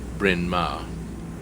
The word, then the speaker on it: Bryn Mawr: Hence the funny name, pronounced Bryn Mawr.